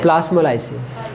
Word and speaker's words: plasmolysis: नहीं, शेप तो वही है, देखो तो इसकी प्रोनाउंसिएशन क्या है? प्लाज्मोलाइसिस या फिर प्लाज्मोलाइसिस? प्लास्मोलाइसिस।